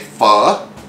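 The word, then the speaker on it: pho: how easy that is and then we made fur which is spelled p-h-o-a and then we had s'mores rice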